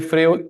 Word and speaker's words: Freud: Se escribe Freud, pero se pronuncia Freud, ¿ya?